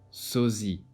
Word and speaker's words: sosie: S often between 2 vowels is pronounced as Z, sosie, abusif.